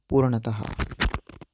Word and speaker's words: पूर्णतः: ऐसे ही पूर्णतः शब्द में जो चिन्ह लगे हुए हैं इसको विसर्ग कहेंगे, और इसका उच्चारण भी आधे ह की तरह किया जाता है जैसे कि पूर्णतः।